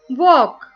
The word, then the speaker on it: walk: Walk. Here L is silent.